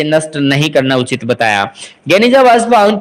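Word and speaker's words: Geniza: यहाँ पर गेनिजा जो कि प्रोनाउंस्ड गेनिजा, इसके अंदर 1896 में एक बहुत ही बड़ा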